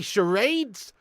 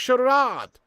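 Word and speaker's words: Schär: shads you don't play charades you know what I mean it's french it's pronounced Shard Shard like Gerard it's Shard it's not charade that's another americanism that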